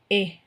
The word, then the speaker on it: et: சொல்றதுக்கு Mercy Mercy Mercy இ டின்றது வந்து ஏ அந்த டி வந்து நீங்க உச்சரிக்க கூடாது ஈட்டினா வந்து அண்ட்ன்னு அர்த்தம்